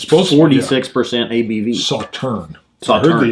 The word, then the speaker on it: Sauternes: malted barley, bourbon and Sauternes cask. Ooh. It's supposed 46% ABV. Sauterne. Sauterne. I heard the S is silent, is what somebody said.